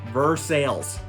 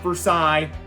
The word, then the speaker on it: Versailles: It is pronounced Vur-Sales. Let's not be confused about it. It's not Versailles. We're not in France.